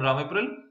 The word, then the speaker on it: Ramipril: They are called Ramipril. Is that how you say it? Pharmacist, that's right. Do you know why the GP put you on Ramipril?